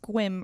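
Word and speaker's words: Sequim: from where so it says its it says sequin Washington but he says it's pronounced quim rhymes with wim so I'm just trusting him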